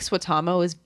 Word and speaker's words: Suotamo: If you don't know how to I feel like Swatamo is phonetic, but it's very phonetic. Jonas is not.